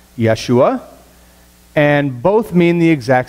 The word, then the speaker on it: Yeshua: and the name Jesus you to pronounce them appropriately both are pronounced yeshua and both mean the